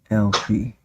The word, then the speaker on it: Alpheus: The A must be silent. Oh, let's go back to the. Oh, what's she say? Alfie. You say it too. Alfie. The A is silent.